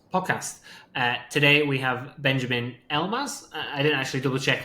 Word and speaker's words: Elbaz: Today we have Benjamin Elbaz. I didn't actually double check if that's the correct pronunciation.